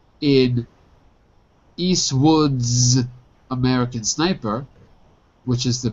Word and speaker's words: Eastwood: Another thing I can point out here is that the T in Eastwood gets dropped. So it actually looks more like this. Eastwood.